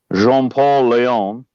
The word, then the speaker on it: Jean-Paul Leon: Say it with a French accent, and then it'll be right. Jean-Paul Leon.